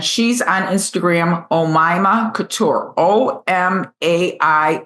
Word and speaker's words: Oma: Oma. And I mispronounced your name in the last buddy episode cuz I hadn't met you yet, but I know her name is Oma.